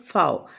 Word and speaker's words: Pfau: इसमें P silent है इसलिए हम इसे पढ़ेंगे रुत फाओ।